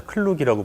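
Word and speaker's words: Klook: 이제 휴가철이니까 휴가계획 한번 짜볼게요 K 룩이라고 있습니다 클룩이라고 발음하는 거는 유지를 하나요 아니면 꺼야 되나 사실 유체도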